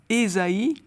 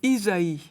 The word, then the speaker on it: Ésaïe: Les catholiques, par exemple, seront peut-être un peu surpris de voir tout le temps le nom du grand prophète Ésaïe au lieu de Isaïe. On a opté pour la prononciation protestante.